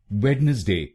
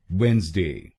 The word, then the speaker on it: Wednesday: अगर आप इसको वेडनेसडे बोलेंगे तो गलत होगा। आइए सीखते हैं इस शब्द का सही प्रोनाउंसिएशन। इसका सही प्रोनाउंसिएशन है वेंसडे। वेंसडे। इस शब्द में दो शब्दांश हैं। पहला है WEDNES और दूसरा DAY। पहले शब्दांश को यानी WEDNES हम बोलेंगे वेंस। वेंस। इसको वेडनेस नहीं बोलेंगे, पर बोलेंगे वेंस। वेंस। इसमें जो D अक्षर है वो साइलेंट है और दूसरे शब्दांश को